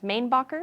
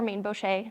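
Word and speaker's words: Mainbocher: New York fashion brand, Mainbacher or Mainbochet, depending on how you pronounce it.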